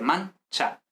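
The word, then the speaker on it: mancia: Es decir, porque vemos que, por ejemplo, en mancha no es manchia, sino mancha. La i no se pronuncia realmente, mancha.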